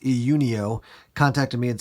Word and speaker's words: Iunio: that same company which I believe it's pronounced EU neo contacted me and said